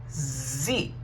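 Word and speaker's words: sie: okay then we have z z is she this s is not pronounced shh no i'm sorry this s is not pronounced c this s is pronounced z okay this says first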